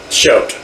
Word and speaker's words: Choate: I got Bill okay it's ch used to be SH now you guys pronounce it show sh okay so it's